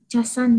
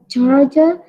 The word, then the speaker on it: charger: Nah, ini pengucapan ini casan dan cas. Minjem casan dong, mau ngecas HP. Minjem casan dong. Casan saya mana, laptopnya Robert mau dicas. Harusnya pengucapannya apa? Charger and charge.